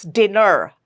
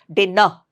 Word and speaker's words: dinner: Especially uh in America we don't drop the r sound at the end of a word. So it's dinner R nicely pronounced that R sound not dinner and tonight T here again